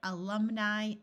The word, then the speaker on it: alumni: A few words ending in I will have a long I sound, such as rabbi, alumni, and alkali.